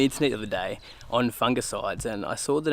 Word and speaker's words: fungicide: I was just looking on the internet the other day on fungicides and I saw that Americans pronounce it fungicide, is that right?